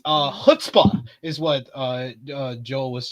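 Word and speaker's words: chutzpah: to have one each time so it's uh hutzpah is what uh Joel was saying I have hutzpah hutzpah thank you thank you our producer uh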